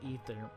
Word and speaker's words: Aether: say a third but it they say is pronounced ether which is very interesting and i want to